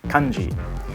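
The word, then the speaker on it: 漢字: En japonais : « kanji » Vous pouvez voir que la prononciation était à la base « hànzì », mais a divergé et est devenue différente en coréen et en japonais, même s'il s'agit de ces mêmes deux caractères.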